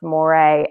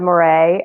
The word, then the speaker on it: Moret: so it's our and my last name is pronounced more a m-o-r-e-t so it's moray on linkedin we've got